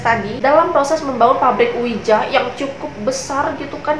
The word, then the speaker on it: Ouija: ini sendiri yaitu namanya Ouija itu dibacanya Wija ternyata diberikan oleh Charles